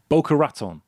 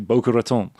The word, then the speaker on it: Boca Raton: When you were um working in web design helping small businesses in the early 2000s in Boca Raton. Is that how you pronounce it? Boraton.